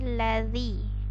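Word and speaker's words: الذي: braille hai buka jadi bacanya azazel di ujung lidah bukan bukan di lazim bukan lazim bukan pakai z atau pakai gym juga salah lazim tapi ladzi oray dari begitu kemudian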